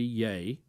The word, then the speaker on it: Ye: getting emails that say it should be yay and also getting emails that he gave the example of ye because it's the most